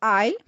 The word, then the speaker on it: I'll: When I use it with I, it becomes I'll. So the W is not being pronounced.